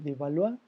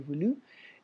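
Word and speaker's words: Beaulieu: firmar el edicto de devaluar o de doble bueno mix perdón se pronuncia el edicto de julio el 6 de mayo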